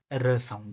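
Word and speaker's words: ruso: करना है, इसको एज अ डी की तरह प्रोनाउंस करो, जैसे र, हमारी टंग अपर टीथ के पीछे जाएगी तो ये र साउंड देगा, र।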